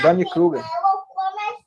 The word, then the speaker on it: Dunning-Kruger: O Carlos Alberto, se quiser pronunciar correto, se eu não estiver pronunciando, pode pronunciar. Está correto, professora. Dunning-Kruger.